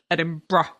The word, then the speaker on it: Edinburgh: look like Edinburgh, but you do pronounce it Edinburgh, don't you? Yeah, it's not Edinburgh. No, Edinra. Edinburgh.